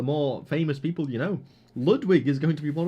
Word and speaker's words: Ludwig: famous people you know Ludwig is going to be one of the judges crazy stuff Ludwig yeah Ludwig or I I should pronounce it correctly Ludwick you know okay I'm